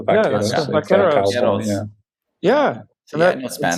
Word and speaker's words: vaqueros: I mean, cow in Spanish is vaca. So vaqueros.